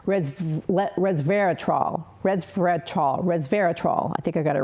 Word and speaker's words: resveratrol: It has something called, I'm going to hopefully pronounce it right, resveratrol. I think I got it right. I call it preservatrol because it preserves you, but it's resveratrol.